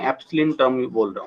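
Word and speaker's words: ε: ठीक है, इसे बोलेंगे एप्सिलिन, इसे प्रोनाउंस करेंगे हम एप्सिलिन, EPSILIN, एप्सिलिन, ठीक है।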